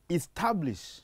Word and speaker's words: establish: The word reads establish. So you put a stress on the second syllable.